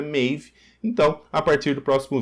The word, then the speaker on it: Maeve: um comentário ali sobre a pronúncia do nome da maiv né não da maev como a gente tem falado né que é correta mave então a partir do